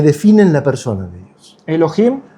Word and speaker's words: Elohim: Para nosotros sería Elohim, la H muda.